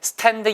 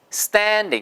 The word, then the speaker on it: standing: 보수 또 맞잖아요 그러니까 s 다음에 프 트 크 p t k 발음이 오면 이거는 무조건 뜨 발음이 되더라 그렇죠 그래서 에 스탠딩 이 아니고 쌘 데이 쓰 덴데 그래서 나는 스스로도 맨날